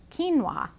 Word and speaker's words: quinoa: grain and it's called quinoa it's that q word out there in the grocery store that you might not really know how to pronounce it's q-u-i-n-o-a quinoa and quinoa is a